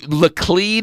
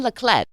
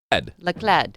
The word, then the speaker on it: Leclerc: So Leclerc is not the way you say the name. So in the French pronunciation, Leclerc. Leclerc.